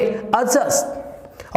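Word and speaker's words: adjust: नॉट एडजस्ट, this is, यहां पे भी डी आपका क्या रहेगा, साइलेंट रहे। जैसे आपने एडजेक्टिव की बात की थी, तो इसी प्रकार से यहां पर भी डी साइलेंट रहता है। तो यहां देखिएगा तो क्या हो जाएगा, ये आपका, इसको बोलेंगे एडजस्ट, और आ कम बोला जाएगा, जस्ट ज्यादा सुनाई देगा, एडजस्ट, एडजस्ट, एडजस्ट, यानी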